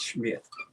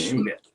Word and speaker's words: Schmidt: her last name was the way they he pronounced it was Smith. You know, it's not the S MIT. It's I think it's the S ci. Okay. Schmidt. The German version of this.